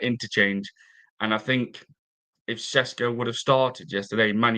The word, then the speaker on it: Šeško: Šeško, as they pronounce his name.